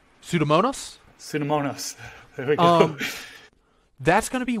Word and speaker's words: pseudomonas: immune response coming from them okay how about pseudonomus i pronounce that one right pseudomonas pseudomonas that's going to be one that lives